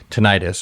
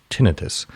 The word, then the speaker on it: tinnitus: It's called tinnitus, or as I've learned properly pronounced, tinnitus.